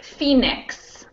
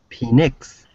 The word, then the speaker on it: Phoenix: a little more sense it's pronounced like f e e n i x this is a difficult